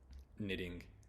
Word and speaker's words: knitting: There's night, knife, knitting. There's many words that have the K-N sound, or the K-N letters, and the K is silent.